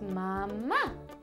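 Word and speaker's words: mamá: I am its mama mama in Spanish is Mama it's the same word it just has an accent at the end so instead of Mama it's mama can you say it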